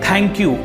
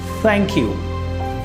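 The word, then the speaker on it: thank you: जैसे आप बोलते हैं थैंक यू, इट इज़ नॉट थैंक यू। थैंक यू बोलते समय आपकी जीभ बाहर आनी चाहिए, थैंक यू, एंड बहुत ही सॉफ्ट फ निकलना चाहिए।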